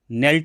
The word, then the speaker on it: knelt: बहुत सरल आते हैं, तो KNELT को आप क्या बोलते हैं, नेल्ट बोलते हैं। के क्यों छोड़ दिया, जो छोड़ दिया वो साइलेंट कहलाता है, इसका ए आपका सही उत्तर है।